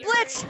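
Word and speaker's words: Blitzø: I gotta get to Blitz! Oh! I gotta get to Blitz! The O is silent!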